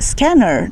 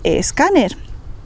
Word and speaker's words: escáner: No decimos scanner, decimos escáner.